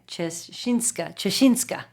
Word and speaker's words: Ciesinka: name only because I'm trying my best, but Ciesinka.